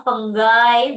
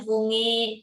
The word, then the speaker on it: fungi: Pengges jadi fenggai. Bacanya fenggai, bukan fungi. Nah, fenggai.